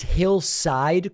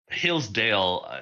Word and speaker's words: Hillsdale: It's Hillside College? Hillsdale.